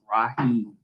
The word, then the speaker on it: Raheem: It may not be spelled the way that it's pronounced, but it's pronounced Raheem.